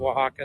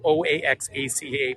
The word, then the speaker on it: Oaxaca: Oaxaca I know that a lot of visitors really struggle with the name Oaxaca but if you'd imagine just with a W you learn to pronounce it very quickly isn't that just gorgeous